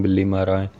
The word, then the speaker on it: بلی ماراں: متبسم ہو کر بولے، دلی کا ایک محلہ ہے، اس کا نام بلی مارا تھا، ذرا تلفظ درست کیجیے۔ یہ بلی مارا اور